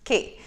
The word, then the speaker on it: Quay: is okay guys so key is spelled q-u-a-y so it looks like kwei it's key it's how it's pronounced the the purpose of